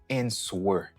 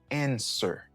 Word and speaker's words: answer: Ou pas dit answer, ou dit answer.